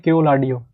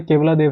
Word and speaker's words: केवलादेव: राजस्थान का सबसे जरूरी है केवलादेव नेशनल पार्क, इसको लोग कई लोग जगह बोलते हैं केवलाडियो, केवलाडियो, ये भी आप ऐसे देख सकते हैं, वैसे कई जगह केवलाडियो पढ़ा जाता है, बट वैसे केवलादेव है ये, केवलादेव नेशनल पार्क राजस्थान